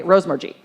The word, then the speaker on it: Rosemergy: Okay, Rosemergy.